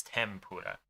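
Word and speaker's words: 天ぷら: So like properly, technically it's tenpura, but in actual speech it's tempura, and senpai.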